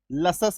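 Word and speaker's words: luscious: एल यू एस सी आई ओ यू एस, लसस इसका उच्चारण होता है, तो यानी कि तालव्य स यहाँ पे उच्चारण हो गया।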